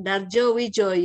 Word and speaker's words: Dardjowidjojo: sudah belajar psikolinguistik itu Jangan sampai salah melafalkan ya biasa Kemudian jawab dardjowidjojo Joe Suyono dardjowidjojo bukan sundjono starjoy Jojo bukan ya lihat itu ejaan lama nahu dalam pelafalan kinesik